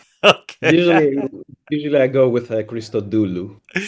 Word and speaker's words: Christodoulou: Usually usually I go with Christoulu. How do you say it? Usually usually I I accent the Christoulu. That's how in in that's how you say it in Greek, but it's fine.